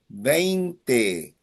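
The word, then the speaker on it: veinte: For number 20, you have three vowels. You have A, E, A. A, E, A. It ends in a vowel. So the emphasis is on the second last syllable.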